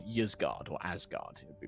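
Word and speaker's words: Ysgard: as well as a planet called ysgaard or asgard it would be pronounced um alfheim is located close to the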